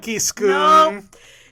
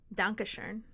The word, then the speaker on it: Dankeschön: No, you're not even saying it right in German, by the way. It's not- Danke Schoon. Nope. Volkswagen. Dankeschön. Dankeschön.